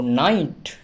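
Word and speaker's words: night: হলো রাত অতএব এক্ষেত্রে জি এইচ এর উচ্চারণ হলো না বাদ হয়ে গেল তারপর দেখো ওয়েট ডব্লিউ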